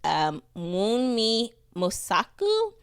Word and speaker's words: Wunmi Mosaku: So if you want to look her up, her name, I don't want to butcher it, but it's Wunmi Mosaku, That's W U. Yeah, you butchered it.